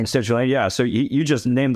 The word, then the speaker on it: L-citrulline: L-citrulline. Citrulline, yeah.